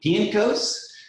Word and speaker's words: Pienkos: we have with us pink piancos which is i think i said it right right yeah all right did i get did i get the right inflection it's polish right yes excellent as a